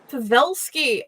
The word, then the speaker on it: Pavelsky: I should have asked if I am pronouncing that right before the show. It's completely fun. It's pronounced Pavelsky, but you got close to it. Pavelsky, awesome.